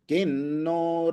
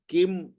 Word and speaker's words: किन्नो: तो ये जो न है, इसलिए ऊपर जो बिंदी है उसका उच्चारण भी कैसे होगा, न के रूप में।